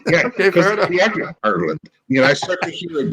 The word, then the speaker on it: Ireland: say Ireland correct, because I say it like a fucking New Yorker. I say Ireland. We like vowels here in the country. He said, no, it's Ireland. I went, oh, Ireland. It's all Ireland.